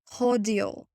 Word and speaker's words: cordial: The British pronunciation of this word is cordial.